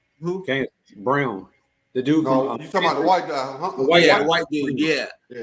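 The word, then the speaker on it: Braun: the playoffs um oh Brown who can't Brown the dude yeah it's like brown but it's not spelled like brown I thought it was like brown yeah Christian his name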